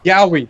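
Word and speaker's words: yaoi: Yowie, that's how you say it.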